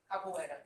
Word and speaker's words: Capoeira: for Dance Brazil and the Capoeira, I'm sure I mispronounced that. Capoeira.